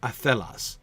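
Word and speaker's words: athelas: If, Catriona, we were to pronounce the word athelos, the shape of the word athelos would be an intrinsically iambic shape.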